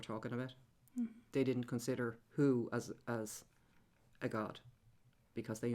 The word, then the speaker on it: Hu: So you would say Hu, like an owl, you know, the sound an owl makes.